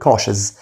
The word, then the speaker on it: cautious: خلي بالك التي اي او بنطقها شهر، فبقول cautious حذر او حريص برضو.